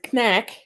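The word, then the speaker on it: knäck: locally referred to as Knack I'm saying the silent k in the front just in case this chewy toffee is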